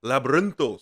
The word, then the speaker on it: Labyrinthos: Roll your R's when you say it. Labyrinthos sounds better, feels right.